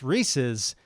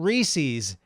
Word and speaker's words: Reese's: that that was nice look it up a guy named Reese made something named it after himself the apostrophe shows ownership and it should be pronounced the same way if you're talking about Mike's car Dylan's cheeseburger or noobs cell phone the same applies to the candy made by Reese so whose candy is